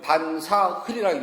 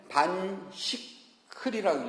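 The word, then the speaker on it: 飯食訖: 그런데요, 배운 사람은 이것을 반사흘이라고 읽어요. 스승한테 제대로 배운 사람은 반사흘이라고 읽어요. 스승 없이 혼자서 한문 아는 사람 읽으면 반식흘이라고 읽어요.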